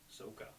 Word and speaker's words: Sokka: She drops it on her brother Sokka, pronounced Soka.